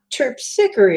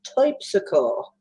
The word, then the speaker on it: Terpsichore: it's not terpsichore, it's typsicle.